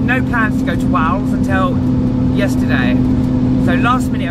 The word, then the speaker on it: Wales: I have to say it like that, Wales. Otherwise I say Wows, as in W-O-W-S.